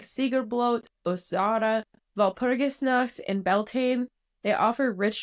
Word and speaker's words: Walpurgisnacht: Walpurgisnacht. Nacht is night in German. Yes. So it's Walpurgisnacht, if you were to say it in an American accent.